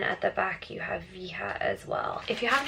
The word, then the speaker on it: Veja: These ones are the Veja, that's just how I'm going for with the pronunciation, Veja V10.